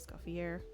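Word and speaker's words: Escoffier: And I don't know about you, but I pronounce it escafier, but some people do pronounce it escafier.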